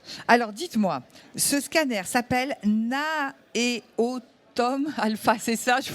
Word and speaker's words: NAEOTOM Alpha: Alors dites-moi, ce scanner s'appelle NAEOTOM Alpha, c'est ça, je prononce bien? C'est le NAEOTOM Alpha, effectivement.